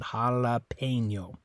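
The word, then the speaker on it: jalapeño: letter E in this word is actually sounds like the letter a in English is making an a sound jalapeno okay uh and it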